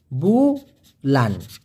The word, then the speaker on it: bulan: ঠিক যেমনটি খেয়াল করে দেখুন, BULAN, উচ্চারণটা কি ভাইয়া? বুলান।